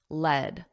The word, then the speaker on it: lead: Notice the pronunciation here as the metal is pronounced lead lead.